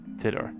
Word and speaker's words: Titor: Get in touch with Tider. Tidor, whatever.